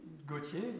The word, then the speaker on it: Gauthier: Okay, Gauthier, Gauthier. Perfect. Like Jean-Paul Gaultier. Like Jean-Paul Gaultier with. That's his last But it's different, spelled differently. Exactly. It's spelled differently. But it's pronounced the same.